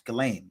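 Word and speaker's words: Ghislaine: the truth that's all galain well it's not jelle it's GLA hope I say her name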